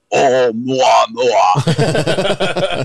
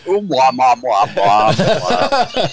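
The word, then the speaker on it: ʻOumuamua: be a spacecraft, but in Hawaii, they call it Oumuamua. That's right. Not Oumuamua. Yeah, or Moo. And now the news. Yeah. Oumuamua has left the solar system.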